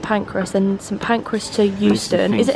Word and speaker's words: Euston: Ebbsfleet to St Pancras and St Pancras to Euston. Is it Houston?